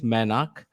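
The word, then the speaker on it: Mainak: but yes my name is my name is manak it's it's m-a-i-n-a-k uh the only person who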